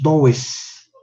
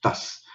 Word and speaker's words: does: No decimos does, decimos das.